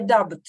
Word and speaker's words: doubt: I doubt, да, I doubt, okay. I doubt? Doubt. B там не произносится, doubt.